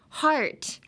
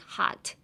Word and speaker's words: heart: hurt would kind of be like, when you pronounce hurt, I feel like your mouth is a bit smaller, like hurt. Whereas in heart, you have to open your mouth wider in the beginning, like heart versus hurt.